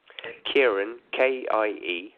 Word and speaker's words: Kieron: My first name's Celtic and my last name's French, so people struggle. It's Kieron, Kieron, that's Kieron, Kieron.